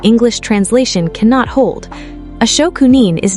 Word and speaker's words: shokunin: Shokunin, pronounced Shokunin, written with the character for workmanship or craft, shoku, and the character for person, nin.